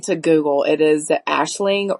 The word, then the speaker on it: Aisling: I actually looked up the correct pronunciation of her name. Um, and it is, according to Google, it is the Ashling R.